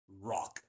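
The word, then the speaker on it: Rok: An orc rock is a spaceship that is exactly how it is spelled, an R O K.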